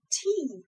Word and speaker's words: tea: Okay, next one, tea.